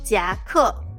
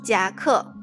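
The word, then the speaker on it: 夹克: 夹克夹克夹克夹克 was phonetically translated from the English word jacket because blazer or a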